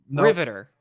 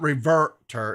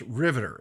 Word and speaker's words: Riverter: r-i-v-e-r-t-e-r so that's reverter it's three syllables Riveter the the middle R is silent okay right I didn't